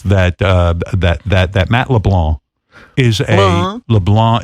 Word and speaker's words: LeBlanc: And the premise of the show is that that Matt LeBlanc is LeBlanc is the proper pronunciation.